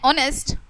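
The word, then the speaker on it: honest: एन का यूज़ हम वहां पर भी करते हैं जहां पर एच साइलेंट होता है। For example N आर एन ऑनेस्ट ऑनेस्ट मैन एन एन एयर इडिसी।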